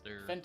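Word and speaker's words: Fendt: Fent is spelled F-E-N-D-T. Of course it is. Fent. Okay. So it's not Fent, it's Fent.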